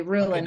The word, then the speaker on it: Rulon: Did I pronounce that right? Rulon? Yep, you did. Absolutely, Rulon. Okay, and then a lot of people mispronounce it, but that is the proper one.